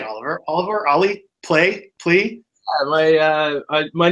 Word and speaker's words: Ollie Plé: guest Oliver how do you say Oliver Oliver ollie play please my my name is Oliver and my